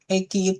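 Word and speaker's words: 駅: Terus EQ eki itu stasiun.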